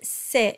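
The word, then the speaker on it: ses: Monta it's Curry now the word SE s-e-s and all these variants Elias s-e-s m-e-s and so on in spoken French they're pronounced more like an a sound but in singing We Still pronounce e but you might have a conductor or a vocal coach that tells you to say I still use e indefinitely in singing But in speech I sometimes default into the E so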